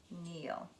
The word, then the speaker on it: kneel: next one is kneel you notice the KN KN that K is silent and we have kneel the opposite of kneel